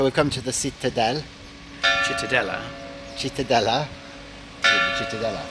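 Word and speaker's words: Cittadella: Chitadella.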